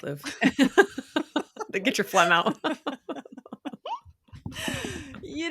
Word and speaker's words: Louvre: Yeah, it's Louvre. Get your phlegm out. You don't have to travel to Paris and go through the Louvre.